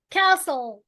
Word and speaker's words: castle: weapon, economy, daughter, castle. حرف التي ما بتتنطقش هنا يا شباب.